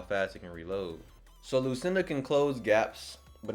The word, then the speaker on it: Lucinda: So it's Lucinda and not Lucinda. I used Google to hear it, so I knew how to pronounce it.